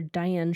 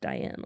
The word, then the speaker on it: Dyan: novel by American author Diane Sheldon. I'm assuming her name is pronounced Diane, although it's spelled uniquely. Yeah. It's spelled Dyan. I would assume it's Diane.